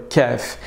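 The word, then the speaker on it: كاف: lettres difficile à prononcer celle là est similaire mais beaucoup plus douce on va dire que c'est exactement le cas que nous avons un français quand parent ou disons noix de coco ou koala est exactement la même chose au niveau de la prononciation c'est simple on va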